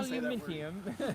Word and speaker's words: aluminium: printed on How does the British say it? Aluminium? Yeah. Aluminium? Aluminium.